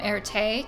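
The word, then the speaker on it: Erté: career as a designer his pseudonym Erte came from the French pronunciation of his initials r a was inspired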